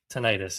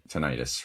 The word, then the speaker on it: tinnitus: Tinnitus is how you say it. Right. Tinnitus.